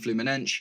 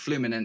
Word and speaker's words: Fluminense: I actually looked up how to pronounce the name because I've been saying Flummen, but no, supposedly in Portuguese it is pronounced Flummen.